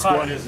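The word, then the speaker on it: Skala: It's pronounced Squala.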